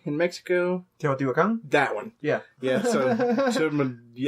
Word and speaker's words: Teotihuacan: I cannot pronounce this word, but it's. Starts with a T in Mexico. Teotihuacan?